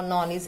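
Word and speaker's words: knowledge: और के अगर एन के साथ आता है तो वो कोई साउंड नहीं बनाता है, यानी वो साइलेंट रहता है। जैसे नो, नॉलेज, ऐसे आप और शब्द इसमें ऐड करेंगे।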